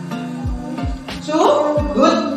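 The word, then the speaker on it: Soehoed: Subud, ya, itu bacanya subud, ya, itu ditulis menggunakan ejaan lama, ya.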